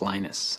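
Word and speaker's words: Linus: your preferred pronunciation um when I speak Swedish it's lenus when I speak Finnish it's lenus when I speak English it's lonus and I really don't care how people pronounce my name but Linux is always Linux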